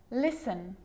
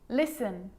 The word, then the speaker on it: listen: sneaky that one now the letter t can also be a bit sneaky and it can also be silent like in these examples there's quite a few listen listen castle castle ballet ballet